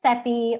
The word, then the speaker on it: Cepee: So my name is Cepee, rhymes with Peppy, I like to say, to help people out there.